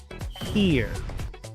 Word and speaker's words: here: Esta palabra se pronuncia here porque la H se pronuncia como J, la E se pronuncia como I, luego se pronuncia la R y la E al final es muda. Here.